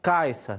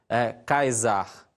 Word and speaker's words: Caesar: Por isso o nome Caesar é pronunciado Caesar, né? E não Caesar, tá bom?